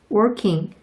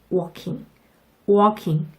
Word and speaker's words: walking: 저 지금 걷고 있어요 라고 하는데 I'm working 이렇게 발음하시면 아, 일하고 있구나 이렇게 이야기 됩니다. 반드시 I'm walking 이렇게 발음해 주세요.